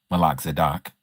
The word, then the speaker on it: Melchizedek: Now, if Melchizedek, as WPS would like for me to say it, Malak Zadok, um if he was